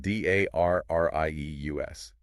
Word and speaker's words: Darrieus: The Darrieus turbine, spelled d a r r i e u s. Pronounced Darrieus.